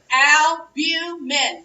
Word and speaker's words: albumin: albumin is the moon it is big al al u min 3 syllables our albumin should be